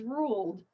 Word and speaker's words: ruled: out the next one the Ed word is ruled so it's the l sound okay so my voice box is vibrating it's a voiced sound so that means the Ed ending should sound like a d ruled ruled the biopsy